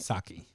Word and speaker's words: Psaki: Psaki. The P is silent.